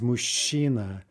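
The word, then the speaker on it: мужчина: word for man is mushina right also a very unusual combination i can't even think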